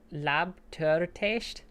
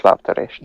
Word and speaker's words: lábtörést: Kézés lábtörtést? Yeah, did a T. Törést. Yeah. Kéz és lábtörést.